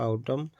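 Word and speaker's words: autumn: आउटम तो आउटम यहां पे एन आवाज आउटम। आउटम मन नहीं पड़ता है।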